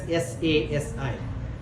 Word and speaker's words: Sasi: In South India, we name it as SASI. Because Shah doesn't have an English word. Shah cannot be pronounced in English.